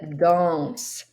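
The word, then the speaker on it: dansent: Nous dansons, vous dansez, et il, elle danse. I want you to notice that danse with an ENT sounds just like danse, danse, danse, danse. The ENT is silent.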